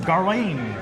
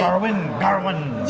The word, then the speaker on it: Gawain: Gawain. How did they pronounce They it were in the like movie? Garwin. Yeah, Like they almost had an R in there, didn't It's it?